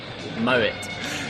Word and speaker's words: Mouat: pronounce your last name moet not moet see it seems easy